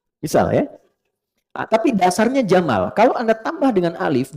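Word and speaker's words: جمل: ibili kaifaqat ibil jika dia pakai jenis gender dia jantan maka namanya jamal saya notis ya pendek bacanya Jamal bukan Jamal Jamalun unta Jamal ganteng oke sifat ganteng itu sifat indah itu jamal kalau diserap ke laki-laki dimiliki jamil.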